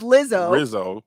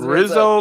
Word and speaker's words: Rizzo: names i actually don't even know joshua it's lizzo i mean rizzo i keep saying it wrong okay rizzo oh